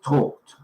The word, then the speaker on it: talked: these words here um it looks like you should pronounce it talking talking but it isn't it is talked talked talked yeah when you get that ed at the end there it's just talked okay and um give